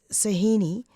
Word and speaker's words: Sohini: Sahini, have I pronounced your name correctly?